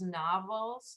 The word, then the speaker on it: novels: Now we're on his novels. Ahora las novelas. Ajá. Yeah, in English novels. Easy. Just 2 syllables instead of 3.